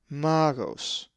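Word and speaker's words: μάγος: The accent is over the alpha, magos.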